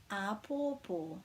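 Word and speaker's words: āpōpō: this one is tomorrow this has got three macrons on and um it's kind of each syllable is actually stressed the same ah ah and that means tomorrow ah poor poor and that's a lovely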